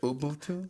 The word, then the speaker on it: Ubuntu: there in I love Africa's um Umbuntu. How do you say it? That you Ubuntu Ubuntu.